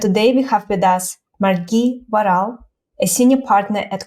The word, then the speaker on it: Margie: And I should just mention now, the pronunciation of my name is an Australian pronunciation. It's actually Margie with a hard G.